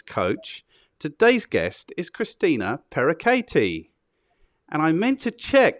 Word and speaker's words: Pereckaite: is an ex-fitness coach today's guest is christina perakati and i meant to check that that's how you pronounce parakati before we started but i didn't yes awesome